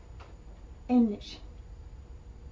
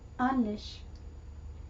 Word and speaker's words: ähnlich: how the ow the the A with the umlaut over is pronounced. It's going to get kind of an eh sound. Eh like the E in the word melon. Eh So, in the word ähnlich, it's ähnlich. Not onlich, inlich.